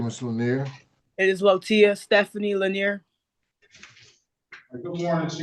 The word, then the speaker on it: Latoya: And it's pronounced Lotia.